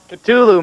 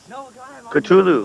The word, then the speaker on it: Cthulhu: The exact pronunciation. Cthulhu, man. I was right. Jesus Christ. Cthulhu.